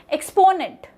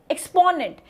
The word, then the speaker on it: exponent: So there are three parts. Number one, the middle part, which is PO, is the primary syllable here.